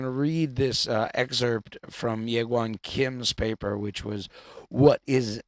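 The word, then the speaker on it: Jaegwon Kim: If you want to find that on Google, you can, but you need to Google his name as Well. That's spelled Jaegwonkim, and the paper is called What is Naturalized Epistemology?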